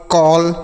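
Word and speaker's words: call: तो अगर ए के बाद डबल एल रहेगा तो औ का उच्चारण होगा। ठीक है? जैसे हॉल, कॉल, फॉल, toll, वॉल, बॉल, ऑल।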